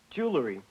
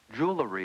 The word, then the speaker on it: jewelry: How about jewelry? I think that's wrong. You transposed the L sound. Right. Jewelry is wrong. Jewelry is correct.